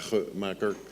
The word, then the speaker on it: Wagemaker: the spelling of my name and the correct pronunciation is here at about four Macker but that's very difficult to that's very difficult